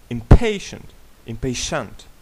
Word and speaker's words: impatient: Impatient. Звісно, другий. Impatient. Наголос падає на другий звук.